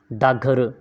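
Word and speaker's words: डाकघर: संख्या 37 वा है डाक घर का स्वर लोप के कारण हिंदी में उच्चारण होता है डा घर डागर डागर डागर तो प्रश्न संख्या 37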